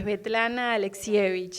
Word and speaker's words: Svetlana Alexievich: ¿Puedes pronunciar la autora? Es Svetlana Alexievich, es complicadísima.